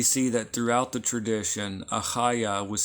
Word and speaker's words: Achaiah: And those of you that just cannot pronounce Achaiah is fine. You can just soften it, make it like an H sound. Achaiah, okay? Or if you just strengthen the H sound, Achaiah becomes Achaiah.